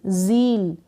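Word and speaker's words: zeal: Z को यहाँ पर आप पढ़ेंगे ज नहीं, ज, ये जो बिंदी लगी है इसलिए ज, ईल, जील। जील का मतलब होता है उमंग, उत्साह या जोश।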